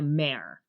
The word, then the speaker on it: Mair: name is marianne but she goes by mare like a horse m-a-r-e m-a-i-r okay but amer